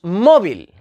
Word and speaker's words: móvil: sílaba tónica luego tenemos móvil móvil es jana tiene la sílaba tónica en la penúltima posición y en que termina